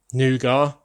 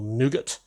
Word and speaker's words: nougat: Lego call it nougat or nougat, depending on how you pronounce that.